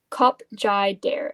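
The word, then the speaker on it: Khop Jader: Cup Jai Dare. It's spelled K H O P J A D E R.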